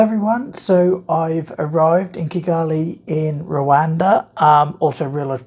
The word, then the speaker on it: Kigali: I got here that I've been saying it wrong I think on previous videos I said kiggly and my typical nor accent throwing in um vowels that shouldn't be there um so Kali um it's warm um